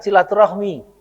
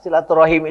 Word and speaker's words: silaturahim: di Indonesia sendiri Memang akhirnya silaturahim itu sering-sering diucapkan dengan silaturahmi Padahal kalau kita lihat akar katanya silaturahim itu adalah Silah dan arahim Silah itu apa Ali